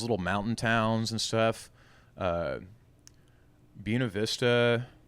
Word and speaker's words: Buena Vista: Buena Vista, that's what they call her, Buena Vista, but the locals say Buena.